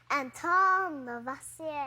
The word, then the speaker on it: Antoine Lavoisier: That guy has a fancy name, but I think I need to pronounce it like this. It's French. Antoine Lavoisier.